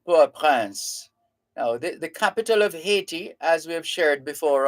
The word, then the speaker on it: Haiti: Now, the capital of Haiti, as we have shared before on this and other programs, the capital has long been anglicized.